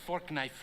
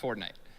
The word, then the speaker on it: Fortnite: bucks for this okay that's a that's a fork knife reference uh did you say fork knife it's uh it's actually pronounced fortnite no I just saw no no but believe